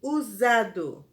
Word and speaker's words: usado: palavra foi a palavra usado e apesar de ter o som de g mas ela é escrita com a letra s usado e a última palavra